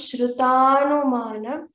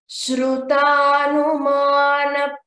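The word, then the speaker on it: श्रुतानुमान: Shruta anumana becomes shrutanumana. Here we have to see this shru. This is not a shru, it is shru. You have to pronounce the u completely.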